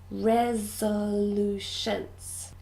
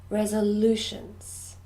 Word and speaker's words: resolutions: little bit more difficult it's got four syllables resolutions and the stress is on their third syllable resolutions resolutions new year's resolutions